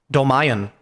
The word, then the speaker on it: Dolmayan: John, how do you pronounce his name? Dolmayan.